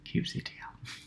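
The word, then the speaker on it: kubectl: is cube ctl um there are many arguments on how to pronounce that but i pronounce it cube ctrl um now it's your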